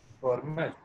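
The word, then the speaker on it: Fermat: फॉर्मेट। हाँ, तो ये इनका भी नाम जो है फर्मा है एक्चुअली, टी साइलेंट है इसमें, इट्स ओनली कॉल्ड फर्मा।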